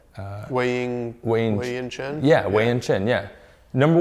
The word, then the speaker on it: Wei-Yin Chen: So the most engaged athlete on Facebook last year, MLB player, is, I'm going to say his name way wrong, Wayne Chen. Wei-Yin Chen?